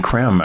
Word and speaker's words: Creme: Tell me, when did you and Benjamin Creme actually get together? What was your connection? Well, Benjamin Creme from London, spelled C-R-E-M-E. It looks like cream, but it's pronounced creme.